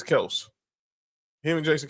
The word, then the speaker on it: Kelce: Like how everyone kept saying people still say Travis Kelce, but he says it's Kelse. Him and Jason Kelsey say it's Kelse.